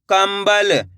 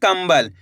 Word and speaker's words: कंबल: कम में अनुस्वार की मात्रा कम ब ल तो मिलके बन जाएगा कंबल कैसे पढ़ेंगे कंबल यहां पे आधा म का उच्चारण निकल रहा है किसका आधा मा का